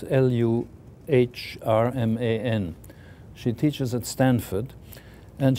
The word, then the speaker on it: Luhrmann: I don't know how you pronounce her name. I've never met her. It's Luhrmann.